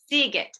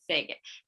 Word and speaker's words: Seagate: have with us kevin how do you say your last name kevin seagate seagate okay i usually say sega it's kevin seagate from